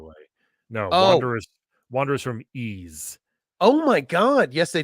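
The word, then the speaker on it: Ys: Like, I think it's pronounced Ease, Lemmings? by the way. No, Oh. Wanderers from Ease.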